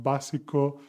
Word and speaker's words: básico: And another reminder regarding the pronunciation, as you see, basic, authentic, the intonation in Spanish is auténtico, básico, and they always have an accent mark in the third from last syllable of the word.